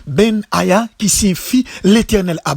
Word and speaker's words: Benaja: homme que l'on appelle bennage a prononcé en hébreu ben yahia qui s'y fie l'éternel